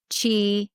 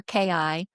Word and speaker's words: qi: It's q i g o n g chi, you know, like your chi c hi or ki, but I spell it qi. So, it could be spelled all three ways.